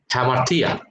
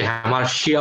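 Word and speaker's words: hamartia: ভাষায় সেই শব্দটাকে তিনি বলেছেন হ্যামার্থিয়া, অনেকে সেটাকে হ্যামার্শিয়া উচ্চারণ করে, হ্যামার্থিয়া।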